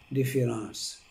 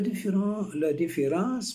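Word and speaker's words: différance: La différence marque un écart qui s'écrit le A, que l'on voit mais que l'on n'entend pas.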